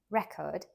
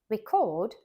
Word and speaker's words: record: than he's telling us record a noun record stressed on the first syllable means a piece of evidence achievement for example she set a new record in the 100 meters but a verb record stressed on the second syllable means to capture sounds